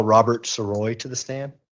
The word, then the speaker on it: Sirois: My name's Robert Siroi. My last name is spelled Sirois.